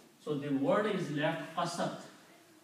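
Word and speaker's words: قَسَتْ: So in the pronunciation, this waw drops out, it is not pronounced. So the word is left qasat. Qasat.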